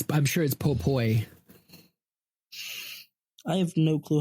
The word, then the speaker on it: Popoi: Oh, I'm sure it's Popoi. I have no clue how that's supposed to be pronounced, honestly. I'm pretty sure it's Popoi, like with an oi.